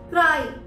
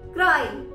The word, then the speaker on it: cry: क्राई, CRY, क्राई। यहाँ पर वाई एंड में है और ये वन सिलेबल वर्ड है।